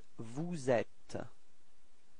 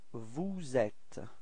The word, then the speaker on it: vous êtes: So this small link between the S and the E, so you get vous êtes. Repeat. Vous êtes.